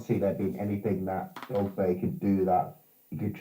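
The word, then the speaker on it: Dogboe: Well, I don't think I'm saying his name right. Is it? It's Dogby. Dogby. Yeah, it's Dogby, isn't it? Yeah, it's Dogby is actually how you pronounce it.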